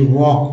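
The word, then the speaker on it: walk: तो हो गया कुड एल के में एल साइलेंट है और एल साइलेंट का मतलब होता है अगर लिखते हैं डब्लू एल के यानी वक पढ़ते हैं पी आर को पार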